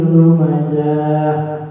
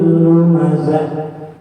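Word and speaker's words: لُمَزَة: Jangan sampai nanti kita baca begini ya. Ini sering kita temukan masyarakatnya. Wailul likulli humazatin lumazah. Misalnya, saking enaknya ya, saking enaknya, tapi hurufnya nggak pas. Seharusnya wailul likulli humazatin lumazah. Jadi jangan za.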